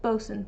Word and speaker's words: boatswain: No, that's spelled like boatswain, I think. It's bosun, but I think it's spelled differently.